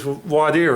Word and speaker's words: voir dire: Trial starts, if it's a jury trial, with something we call voir dire or that's what we call it in Texas. Other lawyers from other states pronounce it voir dire or something like that, but its jury selection.